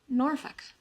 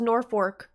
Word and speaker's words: Norfolk: is this a week wheat Terrier Norfolk that's how it's pronounced I thought it was Norfork nor folk could you